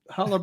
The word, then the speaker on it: challah: Challah bread or not? No, we just ordered bagels. You're not saying it right, dude. Come on. No, It's challah. Challah.